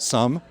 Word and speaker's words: SUM: Do you pronounce it SUM? Yes, we do. We love to use some, and we make a lot of math puns with that.